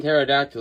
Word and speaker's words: pterodactyl: The P and pterodactyl is silent, but if you hire a guy without a mouth to read your mail, every letter is silent.